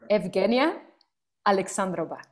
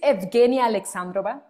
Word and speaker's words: Evgenia Alexandrova: When you send it to me, I was practicing, like, in Spanish, it would be like Eugenia. So Eugenia, yes, of course. Oh my God, how can I say this? So she is Evgenia Alexandrova.